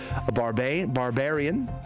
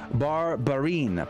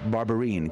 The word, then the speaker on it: Barbarin: request of Cardinal Philip Barbarian, the Archbishop of Lyon. Did I say his name correct? I think I just obliterated his poor name. Cardinal Philippe Barbarin, probably is how you say that. Barbarin, Cardinal Barbarin, the Archbishop